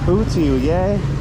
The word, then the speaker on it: hủ tiếu dê: Hủ tiếu yay. I don't know if I'm saying that right. Is it hủ tiếu yay? Hủ tiếu yay. There we go. That's the correct pronunciation.